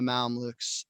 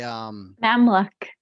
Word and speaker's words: Mamluk: And then so anyways, King Louis loses that battle, and as they're running back away from the Mamluks, they Mamluk. That's what I just Googled the pronunciation.